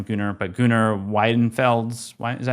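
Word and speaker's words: Gunnar Wiedenfels: I can't pronounce your last name, Gunnar, but Gunnar Widenfelds.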